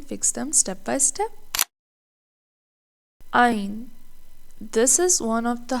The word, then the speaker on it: ع: But Ain comes from the middle of the throat. How to pronounce it? Imagine you are gently tightening the middle of your throat while making sound. Don't force it. The sound should feel deep, controlled, and coming from inside the throat.